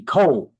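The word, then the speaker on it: COALD: It's spelled C O A A L D. Cold.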